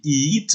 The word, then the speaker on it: eat: Vous savez par exemple que si je dis eat en anglais et ça s'écrit E-A-T, eh bien l'écriture E-A se prononce I, c'est un I court, eat, ok?